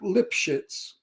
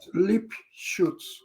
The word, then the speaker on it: Lipschitz: The Americans pronounce Lipschitz like that, but in German it's not pronounced that way. How is that pronounced? I never. Lipschutz. Oh, Lipschutz. Okay. Lipschutz. But the stupid Americans like the shit part. And they say Lipschitz.